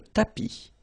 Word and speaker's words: tapis: Remember final S not pronounced. Le tapis, le canapé, la bibliothèque, la cuisine.